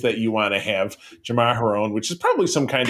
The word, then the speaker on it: Jamaharon: everybody thinks he wants Jaraharom. So this lady, yes, you know what? I was just going to correct your pronunciation, but Jamaharon, that's it.